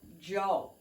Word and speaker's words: yo: okay now sometimes often you will see and hear people saying things like yo in Spanish means I some people pronounce it differently in certain regions in certain areas they would say Jo but that's not what